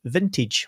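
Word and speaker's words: Vyntage: launched this new brand called vintage which is spelled v y n t a g e t a g e yeah that's it vintage with a Y and uh they very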